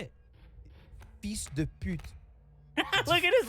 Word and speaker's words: fils de pute: Yeah, Fille de pute. yeah, you're trying. How do you say it? Fils de pute.